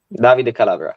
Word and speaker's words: Davide Calabria: Obviously, the manager Stefano Pioli and the captain Davide Calabria. Davide Calabria, correct. Right back. I'll go with your pronunciation because it sounds a lot better than mine.